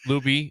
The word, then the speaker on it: Luebby: Coach Luby says, is it Libby or Luby? Libby. It's spelled Luebby. That's Libby.